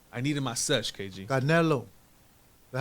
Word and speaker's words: Canelo: Again, Terrence Crawford, Canelo.